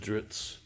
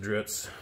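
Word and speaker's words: Drizzt: of that Legend of dritz pronounce it how you want I pronounce it dritz yell at me it's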